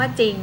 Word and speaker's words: จริง: เนี่ย ออก เสียง เป็น ไม่ ออก เสียง ร เรือ ออก เสียง เป็น จอ จาน มา ถึง เช่น คำ ว่า จริง อ่ะ เนี่ย ตัว อย่าง